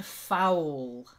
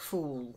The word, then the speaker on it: foul: well done and then foul not like fool if something is if somebody's a fool they're just an idiot if they're foul they're really nasty so foul try it fall